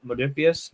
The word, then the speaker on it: Modiphius: How do you pronounce their name? Modiphius.